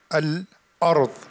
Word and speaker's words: الأرض: You have همزة القطع in الأرض. Don't say الأرض. This is not همزة وصل, this is همزة قطع.